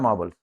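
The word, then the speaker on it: marbles: मार्बल्स ये लिखा है मार्बल्स ठीक है इसमें मार्बल र को बोला नहीं जाता वावेल के बाद आर साइलेंट रहता है ये शब्द जो है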